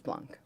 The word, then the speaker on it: Blanc: said Beno correctly right is it Blanc or blank I said blank you said blank and I think it's Blanc Blanc that